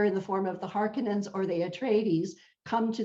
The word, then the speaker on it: Harkonnen: right, but they are Harkonians. But like they're Harkonnen, I think. Harkonnen. That's how they say it Yeah. in this movie. Although I've heard it pronounced differently, but they're kind of evil, very imperialistic.